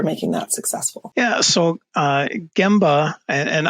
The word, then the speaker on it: Gemba: Yeah, so Gemba, and I prefer the hard G on it too, but a Gemba walk